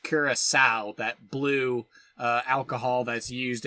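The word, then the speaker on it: Curaçao: Yeah, it looks like curacao, but it's curacao. Right, which is, yeah, because it's got like French characters in the name, which make pronunciation weird.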